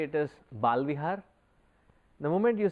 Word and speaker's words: Bala Vihar: So, if we understand the word itself as it has been coined, as it has been named, it is Bala Vihar.